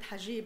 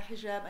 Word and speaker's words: hijab: And only President Obama can get away with mispronouncing it, call it hajib, and nobody noticed, But nevertheless, he talked about the hijab, and he said that